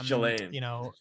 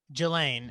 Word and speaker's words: Ghislaine: I think it's Jelaine. Ghislaine, yeah.